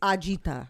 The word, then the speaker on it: agita: that yes it's a-g-i-t-a-gi if you were to say it correctly it's ajita I don't know who